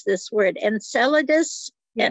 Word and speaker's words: Enceladus: And I don't know how to pronounce this word, Enceladus. Yes. Enceladus.